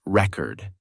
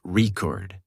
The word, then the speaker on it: record: be tricky for example the word record changes pronunciation based on whether it's used as a noun or a verb as a noun the thing it's pronounced record as a verb the